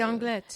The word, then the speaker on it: Anglet: another small city called Anglet. And Anglet. Anglet. Anglet. You pronounce the T? You too. Oh, well, okay. I only know this because my daughter plays basketball and... they say Anglet.